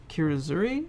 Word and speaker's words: kirazuri: it's very delicate and kind of surface yeah kirazuri is that how you pronounce that yeah it's kind of like that